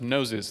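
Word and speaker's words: Gnosis: is it is pronounced noses there is a silent G so guys don't make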